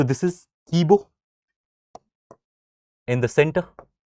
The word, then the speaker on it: Kibo: So, there is There is Now, these are of course will be having some local pronunciations also. We'll try and give it the best possible attempt. So, this is Kibo in the center.